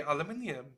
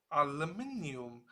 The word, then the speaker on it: aluminium: I say aluminium. Aluminum. What? Aluminum. Aluminum. I don't freaking know. Anyway, you say it a bit differently than I do. So, like you say, Pat, both ways are the right way to say it.